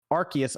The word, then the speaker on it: Arceus: accidental knockouts mimi says in english they say arceus officially in japanese they spell it and say it as rcs very confusing wish